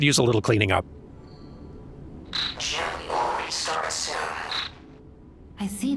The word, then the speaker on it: Gemini: Spelling that thing Gemini and pronouncing it Jiminy.